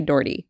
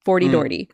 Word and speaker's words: Dougherty: Dougherty. I was like, how do you do this? Like, what am I working with here? He's like, if you can say 40, you can say Dougherty. 40 Dougherty.